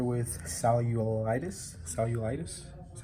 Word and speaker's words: cellulitis: they diagnosed her with Sally you old itis cellulitis that's how you say it it's a common